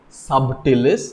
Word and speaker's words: subtilis: as bacillus certalis okay subtilis but b is silent we pronounce it as bacillus subtilis or b subtilis b